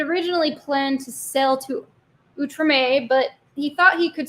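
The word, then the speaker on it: Outremer: the settlements in uh it looks like outreamer but I think it's pronounced utrame from 1254 to 1266.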